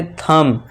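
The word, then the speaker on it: thumb: अब नेक्स्ट देखिए एम के बाद फिर से बी है तो यहां इसे साइलेंट कर देंगे और इसे क्या पढ़ेंगे? थंब।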